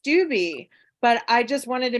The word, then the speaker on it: Stubbe: did better you know stupid so much better than stubby I just want you to know your name is pronounced stewby but I just wanted